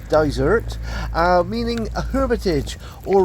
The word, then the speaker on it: Dysart: we go good boy the name daer uh is Scottish GAC which is pronounced uh desert uh meaning a Hermitage